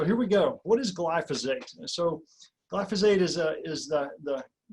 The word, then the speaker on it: glyphosate: It's pronounced glyphosate.